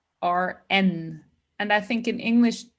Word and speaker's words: Bern: In German, we pronounce it BERN.